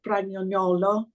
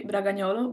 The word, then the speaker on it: Bragagnolo: It's actually Bragagnolo, but I know it's weird.